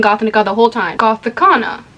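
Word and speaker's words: Gothikana: The book that I read was Gothicana by Renix, and I was about to say Gothnica. That I've been saying Gothnica the whole time. Gothicana, not Gothnica.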